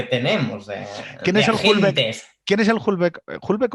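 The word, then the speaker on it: Houellebecq: Eén, ¿quién es el Hulbec? Hulbec o ¿cómo se dice? Hulbec. Ulebec.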